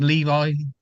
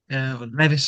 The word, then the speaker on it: Levis: Do we think Levi, Levis, sorry, I get his name wrong all the time, Do we think he's going to be on his way?